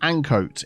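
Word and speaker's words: Ancoats: This little complex here is Murray's Mills in, I believe it's pronounced Ancoat in Manchester.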